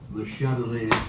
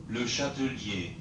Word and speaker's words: Le Chatelier: Le Chatelier. That's how you're supposed to say it. Le Chatelier.